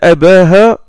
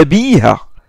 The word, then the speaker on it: أبيها: Normalement, il doit prononcer إن أباها وأبا أبيها وأبا أبيها. C'est ce que nous avons appris en langue arabe. C'est un mudaf ilayh, il est majrour, donc normalement, il doit se prononcer avec le ya.